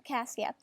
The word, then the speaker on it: Cassia: That's how you pronounce her name, Cassia.